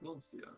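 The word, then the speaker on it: Glasya: Are you Glacia? Glacia? Is that how you say it? Glacia? Yes, Glacia.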